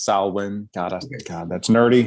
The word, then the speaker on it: Samhain: pronounce it but it's samhain um did i say that right man uh i mean you know you said the american version or the yeah angelicized version yeah the celtics pronunciation is salwin goddess god that's nerdy